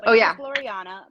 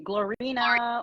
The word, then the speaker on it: Gloriana: about the lightboard yes Gloriana but the thing is is that uh everybody gets my name wrong and they say glorina or Gloria an or glorina or they just say Gloria and so I decided